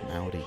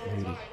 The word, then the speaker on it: Mowdy: I always pronounce his name wrong. It's Mowdy, not Moody.